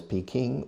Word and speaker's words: Peking: The capital is Peking or Beijing. The old pronunciation in the Western world, in el mundo occidental, the old pronunciation was Peking.